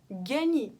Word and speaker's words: gagner: Gagner. Выигрывать. Буква сочетания GN читается как ня. Ня-ня-ня. Как в имени Агнон, Агнес, ня. Гасконь, ня.